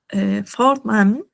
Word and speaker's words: Vornamen: Ya, ahora tenemos acá Vornamen. Vor, ya les dije que acá la, esta B chica en español es V, se pronuncia como F en alemán.